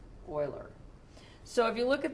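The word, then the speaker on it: Euler: equations the spelling e l e r is pronounced Oiler so if you look at these equations at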